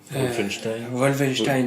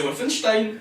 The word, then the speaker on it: Wolfenstein: C'est Wolfenstein. Voilà. Wolfenstein. Tu l'as dit Wolfenstein? Il l'a dit. Tu vois, voilà. C'est parce que tu l'as mal prononcé, c'est pas. Voilà, t'as pas dit l'accent allemand, c'est important.